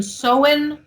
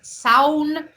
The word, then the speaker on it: Samhain: Samhain, and I've heard the pronunciation Soin. I've heard Soun.